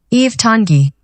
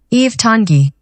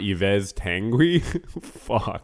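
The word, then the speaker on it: Yves Tanguy: wait Eve tengi wait okay pronounce Eve Tangi no way Eve's hungry Eve tongi Eve Tangi Eve Tangi really it's not Yves tangui dude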